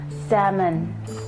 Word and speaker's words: salmon: I wonder if they have any salmon. S-E-L-M-O-N. L is silent, so they call it salmon. The waiter told them that yes, they have the salmon, and asked if they